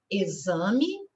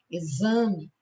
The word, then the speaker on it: exame: de z quais são exame exemplar exatidão examinador tá então se vocês observarem quando nós pronunciamos as palavras né no caso essas aqui exame exemplar o X tem som de z palavrinhas em que o